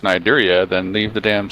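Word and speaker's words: Cnidaria: If you want it to be pronounced Nidaria, then leave the damn C off. Exactly. I ain't gonna pronounce. I'm like, what do we? Cindaria?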